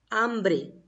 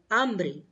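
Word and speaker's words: hambre: spanish you will say ambre because h is silent so hungry is called ambry yes speak ambry ambre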